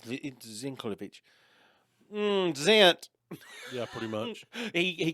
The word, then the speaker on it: Zeintkiewicz: It's Zinkovich.